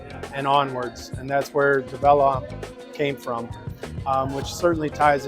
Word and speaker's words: DEVELON: So yes, so if you think of develop onwards, developing onwards, DEVELON is how you say it. So just like you would say the word develop. DEVELON.